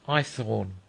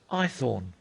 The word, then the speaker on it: Haythorne: "My name's Eyethorne." "What?" I asked. "Eyethorne, sir. Eyethorne." "Spell it."